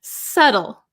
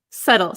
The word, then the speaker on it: subtle: Subtle. Subtle. Silent B.